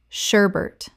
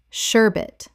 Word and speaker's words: sherbet: cacao cacao Word 41: sherbet Common mispronunciation: sherbert Correct pronunciation: sherbet There is no second R. Many people insert one that simply does not exist in this word.